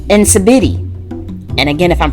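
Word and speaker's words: nsibidi: now we have a really cool one called incibity and again if i'm pronouncing our own very sorry but it's spelled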